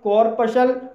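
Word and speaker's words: corpuscle: जैसे कि कॉर्पसल, कॉर्पसल के अंत में एस सी एल ई आया है और इसमें सी साइलेंट है, इसलिए इसे कॉर्पसल पढ़ा जाएगा और कॉर्पसल मिस होता है कनिका।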